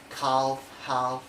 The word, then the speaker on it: calf: with the vector l the letter l on s1 rule that is usually not pronounced after the foul of the letter a o and u for examples like calf yolk and also there's other examples